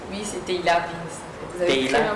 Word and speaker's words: Tehilla Vin's: Bonjour, c'est comme ça que j'ai bien prononcé. Oui, c'est Teila Vince.